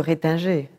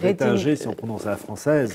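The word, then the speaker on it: Retinger: J'ai envie d'évoquer Monsieur Rétinger. Ah oui, le fameux Joseph Ratzinger, ou Rétinger si on prononce à la française.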